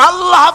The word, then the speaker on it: আল্লাহ: কেউ বলে না আল্লাহ আল্লাহ পাকের উচ্চারণটা হচ্ছে আল্লাহ পাকের নামের উচ্চারণ হচ্ছে আল্লাহ মুখটা একটু গোল হয়ে যাবে বলেন আল্লাহ আল্লাহ